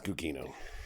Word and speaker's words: Gugino: It's Gugino.